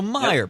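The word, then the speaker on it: Meijer: who ultimately peter meyer however his name is pronounced i was calling a major up to this point it's meyer because he's actually named after the supermarket chain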